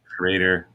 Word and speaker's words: Schrader: Is it Schroeder? It's Schroeder, right? Schrader.